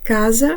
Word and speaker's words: casa: епойвай аказа Отже домовилися Каза і касса це різні речі вимовляємо їх чітко звертаємо увагу на подвоєні літери І до наступних випусків